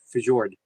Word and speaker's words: fjord: The J is silent. So it's Ford? I like the way I said it better. I like Fjord. Fjord. It sounds more Swedish the way I say it.